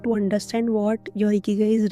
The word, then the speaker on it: ikigai: Then to pronounce the word properly, you say Ikigai with a smile.